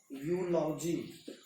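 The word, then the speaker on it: eulogy: इसी तरह से लिखते हैं हम यूलॉजी, यू होगा उच्चारण।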